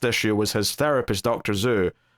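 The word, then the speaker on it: Xu: Zhu, if I'm pronouncing that correctly. It's X-U, Zhu. Yeah, I'll go with Zhu.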